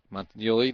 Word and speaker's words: Montenelli: 14 jack montenelli so we're going to go with the tweeted pronunciation montenelli the first baseman and takes a strike on the curveball montenelli is one for four